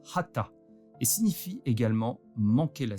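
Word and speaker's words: חטא: Soit dit en passant, le mot hébreu pour péché se prononce hata et signifie également manquer la cible.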